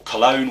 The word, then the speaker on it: Cologne: today when they're home to fc cone or cologne whichever way you want to pronounce it or say it and the lineal